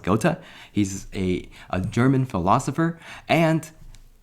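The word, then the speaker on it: Goethe: game design and so to do that we got gota go to us three questions not go not goth I remember I figured out how to pronounce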